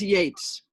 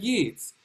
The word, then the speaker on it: Yeats: It was Yeats. It was not T.S. Eliot. It was Yeats. But I think I said Yeats.